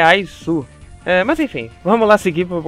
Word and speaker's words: Is: Eu chamo ele de IS, mas não, a pronúncia dele é Aizu.